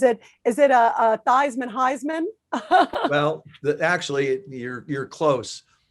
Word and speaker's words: Theismann: the office he said joe how do you pronounce your last name i said it's thiesman he said no actually it's pronounced theism i said no my